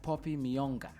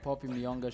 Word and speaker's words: Poppy Miyonga: But in studio today, guys, we have Poppy Miyonga.